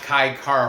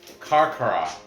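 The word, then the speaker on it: Carcará: Not Kai Cara, France. Carcara. C-A-R, accented A.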